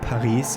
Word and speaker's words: Paris: I'm always saying Paris instead of Paris because that's how we pronounce it in German. Of course, it's Paris in French, so both are wrong.